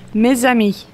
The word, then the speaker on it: mes amis: The pronunciation is mes amis.